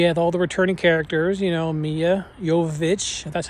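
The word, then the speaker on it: Milla Jovovich: And they had all the returning characters, Mia Jovovich, that's how you say her name, Ali Larter, Sean Roberts.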